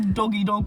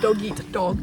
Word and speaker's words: dog-eat-dog: Gloria's like, it's a doggy-dog world. I literally thought it was that. I didn't know it was dog-eat-dog. Because no one pronounces their T's in that.